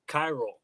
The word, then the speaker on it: Chiral: Kyle or Kai Hall? Or I'm not quite sure how to say it. It's Chiral. So we did Chiral.